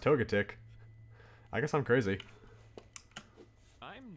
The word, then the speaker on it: Togetic: Is that how it's pronounced? Togetic? I thought it was pronounced Togetic.